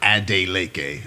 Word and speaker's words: Adeleke: So Adeleke, how do you say it? It's Adeleke. So I tell people all the time, if it rhymes, you got to write Adeleke.